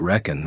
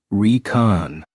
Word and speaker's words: Recon: Military shorthand for reconnaissance although he pronounced it reckon rather than Recon kign his character for